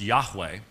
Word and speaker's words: Yahweh: Most scholars would say that the divine name was pronounced Yahweh.